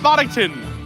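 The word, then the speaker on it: Bodh'aktan: what I said but they they pronounce it way different yeah look at that b o d h apostrophe AK that's no when they came on they were like everyone it's bodton like no trust me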